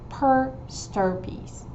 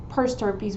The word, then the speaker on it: per stirpes: They have a box where it says per stirpes. Per stirpes, it's spelled P-E-R, and then it's separate word, S-T-I-R-P-E-S.